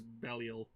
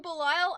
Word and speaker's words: Belial: Sean Schemmel is Zero and Patrick Seitz is Belial. Ah, Belial, yeah. Oh, right, it's Belial. Belial. I always want to call him Belial, and I'm Because pretty that's- sure it's Belial.